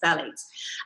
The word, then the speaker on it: phthalates: um phthalates we'll actually start with the second phthalates and this is one it's very tricky to um actually pronounce ignore the t the ph at the beginning it's really the pronunciation is t-h-a-l-a-t-e-s phthalates and their plasticizer um used to make things